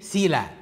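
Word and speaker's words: סלה: الإين سايلنت على فكرة، يعني اللي هي زي حرف العين عندنا، حرف العين هنا سايلنت. يعني ايه سايلنت؟ يعني ما تتنطقش. فلو انتوا نطق، لو حد من حضراتكم يعرف يقرا عبري اللي مكتوب قدامنا ده ايه؟ سيلا. سيلا دي كلمه، والكلمه دي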